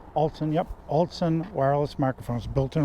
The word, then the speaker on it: ALTSON: altson i am saying it right alton yep altson wireless microphones built in right there that's what